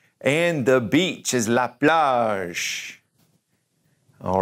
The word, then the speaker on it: la plage: And the beach is la plage.